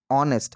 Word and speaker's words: honest: Here the pronunciation starts with honest. H is silent here. Okay, pronunciation starts with honest. So honest here starts with the vowel sound, so that is used with an article.